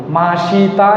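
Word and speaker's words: ました: মাসিতা লেখা আছে কিন্তু এটার উচ্চারণ হবে মাসতা।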